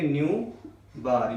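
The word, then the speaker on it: ν̄: Wave number इसको न्यू बार, इसको कैसे प्रोनाउंस करोगे? न्यू बार।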